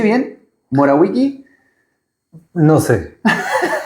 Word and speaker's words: Morawicki: ¿Morawicki? No sé. Para mí es Morawiecki. Morawicki, bien. Para mi hermano es Morawiecki. Cosas de la inmigración.